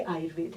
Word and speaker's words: आयुर्वेद: तो वेदा वेदा वेदा, लेकिन जो आयुर्वेद पढ़ते हैं वो कभी आयुर्वेदा नहीं बोल सकते, आयुर्वेद बोलेंगे। तो correct pronunciation is आयुर्वेद, नॉट आयुर्वेदा। Okay, समझ गए आप।